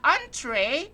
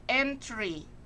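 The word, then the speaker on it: entrée: okay next is the entree it pronounced entree not entry you know highlight cause it pronounced entree not entry huh it's entree entree cutlery which is an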